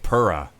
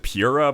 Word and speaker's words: Pura: Crash, Coco, Cortex, Tiny, Engine, Dingo Dial, Polar, and Pura. Some people pronounce it Pura, but they're weird.